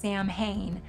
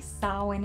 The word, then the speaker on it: Samhain: It looks like it should be pronounced Samhain, but the Irish say Samhain it is.